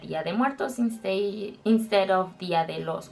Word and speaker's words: Día de Muertos: And also, if you say Día de los Muertos, it's gonna sound weird to us.